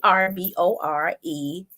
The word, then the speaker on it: Arboretum: But it's Arboretum.